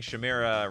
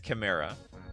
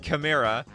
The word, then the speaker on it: Chimera: All right, I've been getting crap from all of you for years that I've been pronouncing Chimera wrong. All right, Chimera. I think it's Chimera. It's a 2/2 first striker.